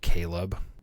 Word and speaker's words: Caleb: It's spelled Caleb. You're kidding me. That is how it's said in the audiobook.